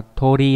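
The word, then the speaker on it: 鳥: Về kanji tương tự chúng ta có đây là chữ điểu đọc là gì nhỉ, đọc là Tori rồi.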